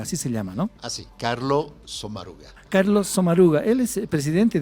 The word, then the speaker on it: Sommaruga: Así, Carlo Sommaruga.